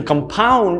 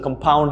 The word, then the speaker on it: compound: of simple interest and compound interest so that's what i'm talking about compound so it's not compound it's compound the pronunciation is in the second syllable compound is essentially a